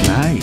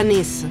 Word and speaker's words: Nice: Nice. Si pronuncia Nis.